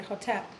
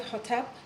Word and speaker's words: Hotep: So the Ho has to be pronounced in such a way that the energy is coming up from here and contacting all of the meridians which activate and stimulate the heart.